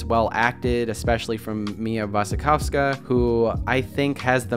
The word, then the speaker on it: Wasikowska: Bergman Island stars Vicky Creeps, Tim Roth, Mia Wasikowska, I think that's how you say it, I know the W's or V's, crucify me in the comments please, and Anders Danielsson-Lee.